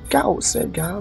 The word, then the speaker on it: Gauss: I think I'm mispronouncing. No, it's Gauss.